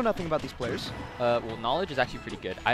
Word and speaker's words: Kn0wledge: I think the O isn't pronounced any differently than it would be otherwise, so it's just pronounced Kn0wledge.